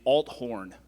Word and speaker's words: Althorn: Let me correct you. It is Althorn.